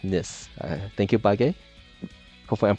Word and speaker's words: Nice: Is it pronounced Nice? Assassin is undefeated. Nis. Thank you. So it's pronounced Nis.